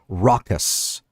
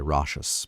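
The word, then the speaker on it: raucous: what was the other one it was uh rockus rockus was the correct pronunciation of uh the word that I learned tonight I was going to say Rous but it's rockus rockus rockus I knew what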